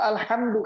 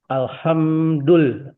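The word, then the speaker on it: الحمد لله: Atau alhamdulillah kita baca. Alhamdulillah itu puja dan puji, puji-pujian. Tapi kalau kita bacanya pakai huruf kha, ada titiknya, alhamdulillah itu artinya adalah kutukan malah. Jadi lawannya kutukan. Malah kita mengutuk Allah jadinya.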